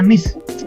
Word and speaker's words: niche: Bacanya niche market.